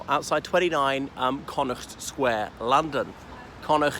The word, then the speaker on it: Connaught: 29 Conor Square London Conor it's not Connaught as some sass enough pronounce it is Conor as in the western province of Ireland anyway this is the